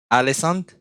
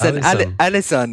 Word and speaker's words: Alisson: I like your pronunciation with the team. What did you say? Alesand? That's the goalkeeper of Liverpool. That's Alisson.